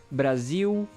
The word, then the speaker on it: Brasil: So for example, Brasil, you go U at the end, Brasil, qual, formal, normal. So we don't usually, by default, that is the one of the main or the most common pronunciations for the letter L. Overall in Brazil, overall different accents. So that's the main reason why. If L ends the word, it's U, and you can go with that rule of thumb.